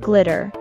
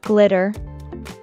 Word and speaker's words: glitter: in the American accent the Double T in the word is pronounced as the fast D sound as they are between two vowels i and e it also sounds the